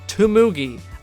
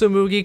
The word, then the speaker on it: Tsumugi: Weirdly enough, in episodes 8 and 10, Tsumugi, which is normally pronounced correctly, is pronounced Tumugi.